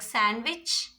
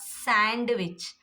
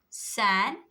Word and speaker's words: sandwich: Here also, some exception words are there like sandwich, sandwich, not sandwich. Sandwich, sandwich. D silent in sandwich.